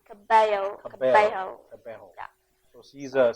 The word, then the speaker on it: Cabello: It's kind of like bello, but you have to pronounce it Cabello.